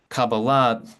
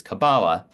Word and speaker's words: Kabbalah: feature in this time cabala being the Hebrew pronunciation of the word the anglicized version of cabala which means receiving that's used by American English speakers is cabala the same pattern of emphasis as for example Madonna both are correct there